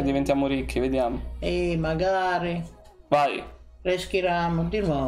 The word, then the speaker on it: Reshiram: Ma lì non si legge Luna qua. No. Reshiram? No. Resharam. Reshiram.